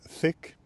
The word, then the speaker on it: thick: Joka tapauksessa kun monet opiskelee englantia, niin ne ääntää sanan thick ja sick samalla tavalla.